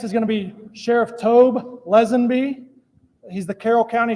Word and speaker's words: Tobe: And then next is going to be Sheriff Tobe Lesenby. He's the Carroll County Sheriff. It's Tobe, and it's pronounced Tobe.